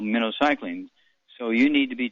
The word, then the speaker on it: minocycline: eight week supply of minnow cycling is pronounced like the bait fish minnow cycling minnow okay and